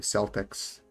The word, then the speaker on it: Celtics: Fucked up that the Celtics, the team, uh, is pronounced incorrectly.